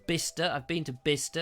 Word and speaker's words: Bicester: it's print it's spelt Bicester but it's actually pronounced bicester I've been to bister it's very nice and Bicester and there's a